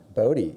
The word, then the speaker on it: Bodi: us all about yourself Bodie and you got my name pronounced correctly it's just Bodhi b-o-d-i so that's great